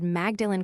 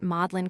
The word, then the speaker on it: Magdalen: The teacher said Magdalene College at Oxford, you know. I said in England they call it Mlin College.